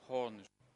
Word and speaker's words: Horn: Horn. Let me pronounce the word again. It is H circumflex accent A N or H O R N.